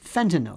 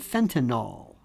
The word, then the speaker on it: fentanyl: many people cannot pronounce fentanyl they call it fentanyl o l when it's fentanyl yl I'll never understand that